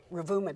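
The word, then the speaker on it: Ruvuma: And then how do you pronounce this? Ravumu. Ravuma district, right?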